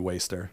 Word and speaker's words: WSTR: somewhere someone said oh I think it's pronounced like Worcester but it's not it's actually waster it's waste and so